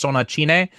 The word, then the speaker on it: Sonatine: be talking about uh sonatin which is pronounced it's the same title in Japanese but it's pronounced in the Japanese katakana style. So it's sonach.